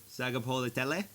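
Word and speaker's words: Sagapolutele: So Sagapolitele? There's think of it like a half silent N between the A and the G.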